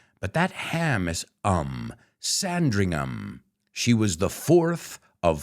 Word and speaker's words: Sandringham: would say Tottenham but that ham is um Sandringham she was the fourth of five kids and